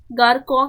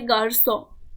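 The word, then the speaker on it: garçon: सेडेला जो है वो सी के नीचे अगर सी के नीचे ऐसे कॉमा टाइप का एक्सेंट होगा ना, तो ये सेडेला। इससे सी को प्रोनाउंसिएशन स करते हैं। जैसे यहाँ पे गारकॉ के जगह पे गारसो, तो ये एस का प्रोनाउंसिएशन देते हैं, तो गारसो।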